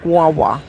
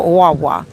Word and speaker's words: guagua: It's spelled guagua, Guagua, but it's really pronounced wawa. Okay, you don't pronounce the G, so wawa, and it's a great source of traveling here, transportation.